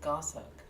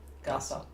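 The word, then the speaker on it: goshawk: Looks like ghost hawk, but it's looks like it's pronounced gossuck. Gossk like it's go o s and then hog. No idea for birds, but it's stressed on the first. Gossic. Gossuck.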